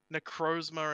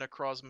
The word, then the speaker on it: Necrozma: first came out um necrozma and necrozma is just like a dialect thing yeah um stalker talker